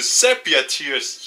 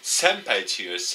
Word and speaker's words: Sepia Tears: back to Sepia tears. Yes, I finally say it right. Sepia tear. I always mispronounce it. Senpai tears.